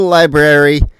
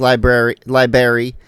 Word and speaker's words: library: Go to the library and, you know, say the word right. Unlike Caleb who says library, it's library with an extra R in there.